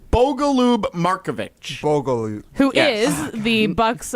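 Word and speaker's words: Bogoljub Marković: I literally just wrote on my paper, Bogo Loop. Gross. I'm sorry. So, wait for any of the fans listening. Should we should we pronounce it correctly? How is the actual pronunciation? Bogaloo Marovich.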